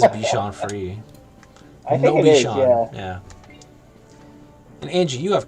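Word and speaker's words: Bichon Frisé: say it yeah maybe a lot of people say sean fancies but i think it is bichon free yeah and angie you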